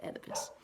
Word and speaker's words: Oedipus: It starts with an O, but it's pronounced Oedipus.